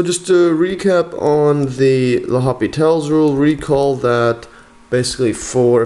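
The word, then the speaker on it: L'Hôpital: So need to use, L'Hopital's, I think it's pronounced L'Hopital's, sometimes spelled, I think it's spelled like L'Hospital for some reason, L'Hopital's rule.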